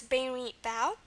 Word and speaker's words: berimbau: Again, B is normal, and then we have an ow sound, which again is not very common in Portuguese. The sound isn't, but just like the other Romance languages, we're going to spell it with an AU. Okay, so that's berimbau.